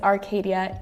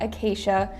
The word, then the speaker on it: Arcadia: It is Arcadia, not Acacia.